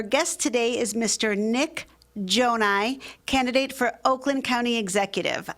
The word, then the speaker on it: Gjonaj: Well, my name is Nik Gjonaj. I'm running for Oakland County Executive. You probably see my signs everywhere, but the spelling is a little tricky, but it's pronounced Gjonaj.